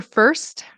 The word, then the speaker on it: first: Um sometimes very often I hear Spanish speakers say for or first instead of first. You really want that T to pop and you really want to pronounce that consonant cluster because in Spanish I know consonant clusters I don't think they exist.